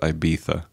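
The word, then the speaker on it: Ibiza: it be dispelled it's that's how it's spelled but you pronounce it I bisa what which makes no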